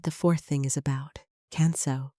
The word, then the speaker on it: Kanso: Kanso, pronounced as kan-so, means simplicity.